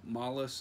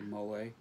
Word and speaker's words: Mole: I think I called him Mollus last week. It's actually Mole.